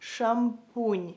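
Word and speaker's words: шампунь: So if you want to say shampoo in Ukrainian, it's so similar to the word shampoo. You would say it like shampoon, shampoon, shampoon.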